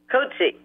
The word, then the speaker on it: Coetzee: Coetzee.